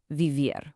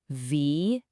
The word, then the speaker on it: vivir: Now for an IR verb, vivir, which means to live. Let's slowly pronounce this one together. Vivir. Make sure you voice those V's gently.